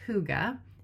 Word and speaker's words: Hygge: The other book I'm reading right now is The Little Book of Hygge, which is spelled Hyggge. You've probably seen it around and not known how to pronounce it, but it's Hygge.